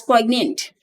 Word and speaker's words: poignant: It is pronounced as poignant.